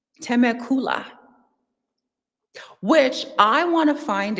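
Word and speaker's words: Temecula: It's actually pronounced I learned it's actually pronounced teacula.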